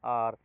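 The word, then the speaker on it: hour: तो आर है वहां एच है लेकिन वह साइलेंट रहता है।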